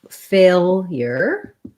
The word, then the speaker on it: failure: So failure, we have first syllable stress. We want to have our tense A sound, fail. And then this L is a dark L. So we kind of have a schwa before it, like fail.